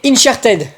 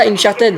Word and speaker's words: Uncharted: C'est Incharted, ça se dit comme ça. Se prononce bien comme ça. Uncharted. Uncharted. Uncharted. Ouais, excusez-moi.